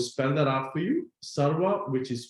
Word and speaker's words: Sarwa: somewhere i would recommend you using platforms like sarva i'm going to spend that out for you sarwa which is spelled sugar alpha romeo water alpha okay i